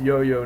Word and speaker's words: IOIO: the ioo mint or which is pronounced yo-yo normally so it's a yo-yo mint um but anyway